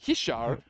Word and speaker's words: Richard: You know, uh, Richard uh, Fras, it's Hishar.